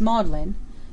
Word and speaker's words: Magdalene: the seat of learning Magdalene is pronounced modlin probably in subtle tribute